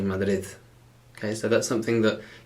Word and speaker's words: Madrid: see that like uh people from madrid don't say madarid they say mother okay so that's something